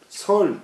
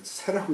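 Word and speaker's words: 說: 진왕하고 부사 동세 제왕왈 종인 설 대왕자 여기 새라고 읽어야 되는데 죄송합니다.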